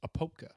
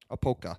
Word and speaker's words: Apopka: I believe the proper pronunciation is Apopka. Apopka. But I could be wrong.